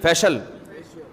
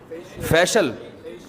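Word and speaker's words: facial: बेशक फिशल फिशल फिशल फैशल अबे सही प्रोनाउंसिएशन बुलवाया करो फिशल ना फैशियल ये अमेरिका से आए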